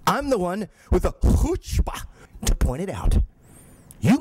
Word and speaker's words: chutzpah: It's pronounced chutzpah!